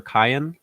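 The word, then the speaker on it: Kiyan: His name is, I want to say it's pronounced either Kian or Kyan.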